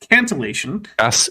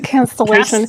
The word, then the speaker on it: cantillation: Cantillation. Rights mentioned. Yeah, Oh my god, cancellation.